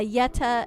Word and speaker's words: Yeta: You think it's uh the pronunciations are like how you pronounce Yeti? Yeah. Yeta and Yet Yetto, but you replace the last syllable to be masculine or feminine.